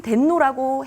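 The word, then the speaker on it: 天皇: 그렇다면 천황의 일본식 발음인 덴노라고 해야 된다는 주장도 있습니다.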